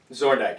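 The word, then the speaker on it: Zorndyke: So basically, it's the human forces trying to take out Zordyke. Zordyke. I said it right the first time.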